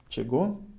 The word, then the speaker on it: чего: Written кого, чего, however pronounced кого, чего, with the emphasis on o.